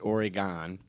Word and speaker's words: Oregon: in the news recently oregon ohio or as we pronounce it oregon and i didn't really